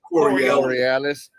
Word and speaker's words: Coriolis: Water drains counterclockwise in the southern hemisphere due to the, I don't even know how to say this, y'all, Coriolis? How you say it? Coriolis.